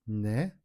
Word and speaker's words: 네: The right way is 네. The way you pronounce it is pulling your tongue back.